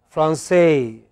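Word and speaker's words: français: In French, it is always the last syllable. So, they pronounced Paris. Okay? They always in English, sorry, in French, they pronounce it as Francais. They pronounce it as Francais. Okay? It is always the final syllable, no exception.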